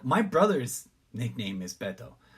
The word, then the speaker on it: Beto: Because that's, like, my brother's nickname is Beto. It's pronounced Beto. Not Beto, not Badao. People pronounce the shit wrong like crazy and it drives me nuts.